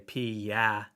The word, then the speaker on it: Piascik: When I tell people how to pronounce my last name, I say Piascik. So 3 syllables with a ya in the middle.